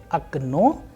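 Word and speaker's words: окно: Especially in this last word, we have a very different pronunciation. You know why? Because here the role of stress or udareniye is playing a vital role, and clearly the sound is changing.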